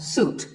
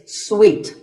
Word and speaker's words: suite: This means a set of connected rooms in a hotel, and this is wrongly pronounced by many people as suite. But it's sweet, like when you eat a piece of candy, sweet.